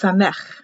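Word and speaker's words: Samekh: is not an o it is an s or c pronounced sameh it's an s or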